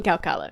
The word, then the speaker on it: Khao Kala: On the mountain CowKoala, Yes.